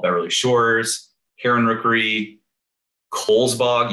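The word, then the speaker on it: Cowles: beverly shores karen rookery kohl's bog even though it looks like cowell's pronounced kohl's apparently west beach miller woods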